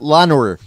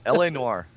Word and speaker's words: L.A. Noire: She pronounced it Lenore. Lenore? Can I have that Lenore game? I want to play Lenore. It's about a 58-year-old grandma that's shopping. Yeah, L.A. Noire.